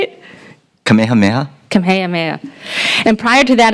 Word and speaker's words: Kamehameha: as head of school and I'm going to mispronounce this kamah Mah schools kapalama and but that was good yeah how did you say it Kamehameha Kamehameha and prior to that a superintendent of